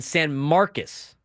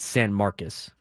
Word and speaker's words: San Marcos: But don't tell me like getting Texas State in San Marcus, it's it's spelled San Marcos, they call it San Marcus.